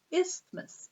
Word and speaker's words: isthmus: water forms are called is this and straight isthmus is a funny word I want to talk to you about how to pronounce it trying to get the lid off